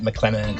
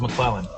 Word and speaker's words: McLennan: Everyone loves Thwaites Market, especially their friends at McLennan & Company. I thought it was McClellan.